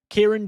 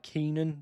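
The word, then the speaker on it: Kiernan: No, it's like Keen Keenan. I always say I always say it wrong, but yeah, it's like Keenan Jewsbury Hall.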